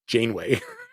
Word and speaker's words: Janeway: Just Janeway.